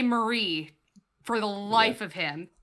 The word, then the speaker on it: Marie: um because in the Japanese it's pronounced mari and so it's it's putting the stress on a different syllable and it got it